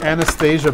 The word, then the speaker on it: Anastasia: So this is the Anastasia bust.